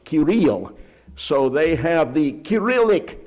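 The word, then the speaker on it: Cyril: cilic language because one of the monks was sirel or as it should be pronounced kiril so they have the kiric language as they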